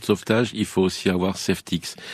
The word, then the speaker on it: Safetics: Avec le gilet de sauvetage, il faut aussi avoir Safetix. Safetix, ça s'écrit S-A-F-E-T-I-C-S.